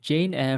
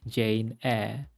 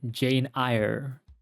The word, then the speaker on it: Jane Eyre: I was pronouncing it Jane a but after Googling it um I realized that the Y is silent there are many versions